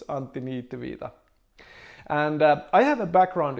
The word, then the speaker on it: Antti Niitty: name i come from finland it's hard to pronounce so it's anthony tevita and i have a background in software development